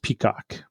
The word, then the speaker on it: PCOC: part of the new office called pcoc pronounced peacock that's interesting uh now